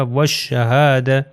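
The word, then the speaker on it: والشهادة: next example ہے والشہادہ، آپ یہ دیکھیے الف اور لام، یہ لام یہاں نہیں پڑھا جائے گا، یہ شین سے مل جائے گا، واو جو ہے ہو جائے گا والشہادہ، والشہادتی، اور نیکسٹ اس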